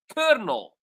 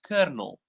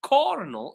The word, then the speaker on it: colonel: the way pronounced as kernel. Colonel the L is pronounced as R. How? I don't know. So this is basically English. So the word is pronounced kernel.